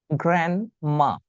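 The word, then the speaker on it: grandma: মাই গ্র্যান্ড মা। উচ্চারণটা কি হবে? গ্র্যান্ডমা ডিটা সাইলেন্ট থাকবে।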